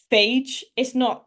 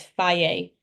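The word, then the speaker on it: Fage: So on the previous slide, this was actually in the amber, but I mean, um, I was gonna say it, phage. That's not how you say it. Apparently it's faye.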